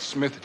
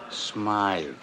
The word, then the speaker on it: Smythe: Hammer, I just got word that Smith Jewelers was held up again. That's Smythe.